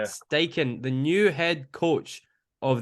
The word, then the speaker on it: Steichen: say his name yet is it Shane steigen steichen is correct yeah stake in the new head coach